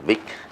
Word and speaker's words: Wick: ¿Cómo se pronuncia su nombre? Sí, Vic. Está bien, Bertram Vic. Sí. Bertram Vic, ok, Se perfecto. dice cada letra que está en alemán.